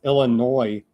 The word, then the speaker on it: Illinois: Illinois, I'm not supposed to say the S, Plutonium said, because California doesn't know how to pronounce it. I guess it's Illinois and leave the S off.